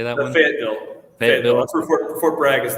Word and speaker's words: Fayetteville: Fayetteville.